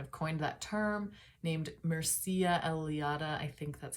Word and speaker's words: Mircea Eliade: Okay, so numinous experiences are a phenomenon that happens, and the man who kind of coined that term, named Mircea Eliade, I think that's how you pronounce it, he was an anthropologist and historian,